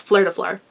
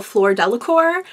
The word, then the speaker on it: Fleur Delacour: it is now, so my brain just filled it in as Fleur de Fleur every fucking time. So now having to actually be like, oh, Fleur Delacour does not work for me.